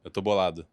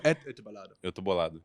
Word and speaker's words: Eu tô bolado: Could you give me a proper pronunciation? How do I say that? Eu tô bolado. That is not what's written. Go again. Eu tô bolado.